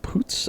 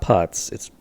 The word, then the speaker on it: Putz: Poots, I believe is how you say it. It's not Putz. I believe it's Poots.